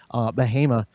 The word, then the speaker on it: Bahama: Bahama, that in northern Orange County, that it's, there's some ice up that way pretty hard right now, or a little earlier.